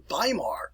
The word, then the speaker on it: Weimar: was known as the weimar republic remember to pronounce this with a v uh use your your rules here b e i so we pronounce it as a long iso by mar republic but the weimar